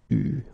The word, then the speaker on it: eu: Il a eu, okay, you write it like that, but you pronounce it eu, okay.